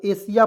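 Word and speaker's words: Asia: एन तो आईए है एस के तुरंत बाद आईए तो इसका उच्चारण क्या करते हैं दोस्तों तलाब के रूप में ए को ए लिखेंगे और एस को एस आईए तो सिया हो जाएगा तो एशिया पढ़ेंगे एशिया मेंस क्या होता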